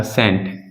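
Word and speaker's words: scent: nine क्या कहता है यदि यदि एस के बाद सी आता है यदि एस के बाद सी आता है तब सी तब वह सी साइलेंट होता है क्या होगा साइलेंट होता है ठीक है जैसे मैंने कहा एग्जांपल में लिखते हैं एग्जांपल मैंने कहा सेंट यह तो सभी जानते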